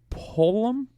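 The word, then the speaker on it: Pullman: Oregon State, Washington State, 6 o'clock in Pullum. That's how you pronounce it.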